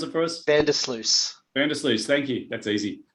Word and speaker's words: Vandersluys: going hey everybody we've got campbell can you pronounce it for us bender sluice vandals thank you that's easy and alex martin